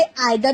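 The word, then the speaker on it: either: आप इसे आइदर भी प्रोनाउंस कर सकते हैं, इदर भी प्रोनाउंस कर सकते हैं। उसमें कोई दिक्कत नहीं है।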